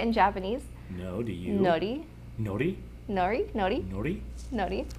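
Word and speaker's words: のり: Nori.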